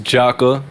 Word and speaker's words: Jakkah: tune in for sure so my name is jocka you're gonna find me on all streaming platforms